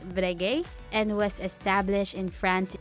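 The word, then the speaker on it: Breguet: their former clients but this one which is pronounced brege and was established in France in 1775 Ken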